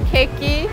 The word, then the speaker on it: Keki: This morning with my friend Moul Kim, the owner of Keki, Modern Cakes. Yes. Did I say it right? Yes, okay. It's Keki.